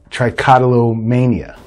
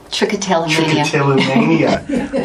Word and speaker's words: trichotillomania: anxiety i've dealt with patients that had trichotolomania trichotillomania i always say wrong and then they look